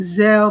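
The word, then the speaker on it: Zelle: washington dc okay she is saying okay it's pronounced zell but spelled zelly most banks have the service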